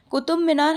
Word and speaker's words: कुतुब मीनार: तो देखिए, कुतुब मीनार हम लोग बोल देते हैं, बट इसका रियल नाम ये है, सही प्रोनाउंसिएशन ये है कुतुब मीनार। कुतुब मीनार इसका रियल प्रोनाउंसिएशन है हिंदी में।